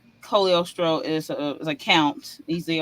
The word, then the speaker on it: Cogliostro: I heard the name obviously they pronounce it cogliostro but it's really Colio Stroh and I heard it'll